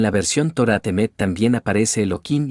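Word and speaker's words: אלוהים: Justamente para que la gente no se malacostumbre a decir Elohim, Elohim, se dice Eloquim, cambiando el nombre tanto en la fonética de la Torá Temet como en hebreo.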